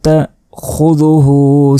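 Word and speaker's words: تأخذه: তাখুযুহু, এ জাল এখানে অবশ্যই জিহ্বা বের করে উচ্চারণ করতে হবে এবং হু এখানে 1 সেকেন্ড টেনে পড়তে হবে।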